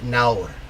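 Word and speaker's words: nawr: fun ones is uh in south wales you say naur for now the word for now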